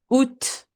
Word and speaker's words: août: August will be août. Août. The A is silent.